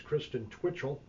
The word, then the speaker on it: Kristen Twitchell: Our guest this morning is Kristen Twitchell. Did I pronounce that right?